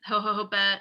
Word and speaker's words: jojoba: The facial milk contains natural plant oils, coconut, jojoba seed. I always put 3 of those syllables in there. That's not right.